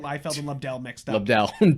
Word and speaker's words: Lobdell: Lobdell, two syllables starts with a Dell.